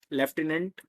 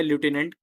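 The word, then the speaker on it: lieutenant: एन ए एन टी लेफ्टिनेंट या लूटने कहा जाता है बाकी जो स्पेलिंग है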